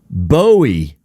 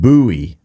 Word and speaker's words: Bowie: But I think what I thought he was trying to say is you need to pronounce it Jim Bowie, not Jim Bowie.